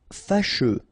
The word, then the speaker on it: fâcheux: Fâcheux. So final X not pronounced, and then you get your combination of U, E.